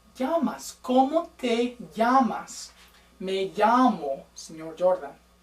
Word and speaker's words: llamo: Also make sure, double L's. Ooh, in Spanish we say them ya. We do not say la or l. Okay, it's not even a longer L. It's kind of like a Y.